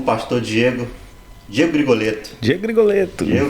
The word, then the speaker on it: Grigoletto: Mas nós temos o prazer de conversar hoje com o pastor Diego Grigoletto. Diego Grigoletto. Diego Grigoletto, um sobrenome meio difícil de falar, né? Grigoletto, assim, meio chique, né?